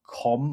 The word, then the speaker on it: Qom: Reports suggest that Israel even struck a building in the Iranian city of Qom, I think it's pronounced, where senior clerics were meeting to discuss and to choose the next supreme leader.